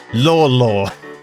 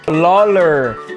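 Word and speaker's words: Lawlor: That's I I It's definitely not pronounced that. Uh, he's from Wales. Lor L A W L O R. I don't know how the pronunciation is, but he's a good center back. Lawler. Lawler. What is wrong with you, bro? Learn how to talk. Lawler. That's what he is. He's Lawler.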